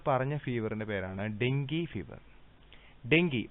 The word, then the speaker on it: dengue: Dengue, pronounced dengue, dengue fever, is a painful mosquito-borne disease caused by any one of 4 closely related dengue virus.